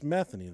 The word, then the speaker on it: Metheny: It's It's Metheny. The one of the Yeah, Metheny. But I I wanted to I wanted to pronounce it Metheny.